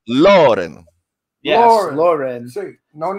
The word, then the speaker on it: Loren: With the accent on the O, Loren.